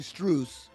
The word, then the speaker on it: Strus: Like you said, Max Struss, and it says actually Strus. And then forever, everyone always remember, oh, it's Max Strus.